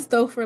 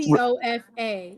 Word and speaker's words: Stouffer: please stop saying Stouffer like stovetop Stouffer. No, Okay, what's Stouffer? Stouffer? I don't. Stofa.